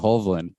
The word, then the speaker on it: Hovland: the Northern Lights, you'll know very quickly they pronounce it Hovland.